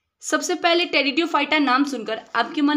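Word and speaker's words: Pteridophyta: तो नहीं लिख सकते क्योंकि उसमें पी साइलेंट है जो उसको पढ़ा होगा वही तो लिख पाएगा जैसे अगर इसका हम लोग उच्चारण करें तो पी टेरियो फाइट निकलेगा लेकिन रेडियो फाइटा जो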